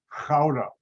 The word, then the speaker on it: Gouda: netherlands called gouda but good is how americans pronounce it it's not how the dutch pronounce it because i know hebrew